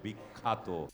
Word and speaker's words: বিখ্যাত: ফলা মাঝখানে থাকলে তখন এর জ ফলা আকারের উচ্চারণ হয়ে যায় আ এটি হবে বিখ্যাত পরিপ্রেক্ষিত হলো না পরিপ্রেক্ষিত তোমার র ফলার উচ্চারণে